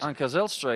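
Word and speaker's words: Anca Zijlstra: Came through with a victory earlier on this afternoon against, well, the pronunciation Anku Zylstra, correct? Anka Zelstra, yeah.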